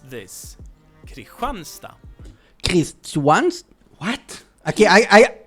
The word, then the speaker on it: Kristianstad: But the pronunciation is Kristianstad with that very nice Yeah, but Kristianstad is There's something after the D also that he pronounced.